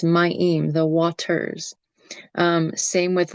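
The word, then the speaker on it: מים: It's not my, it's myim, the waters.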